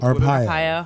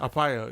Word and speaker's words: Arpaio: Sheriff Arpaio? Arpaio. Arpaio, yeah.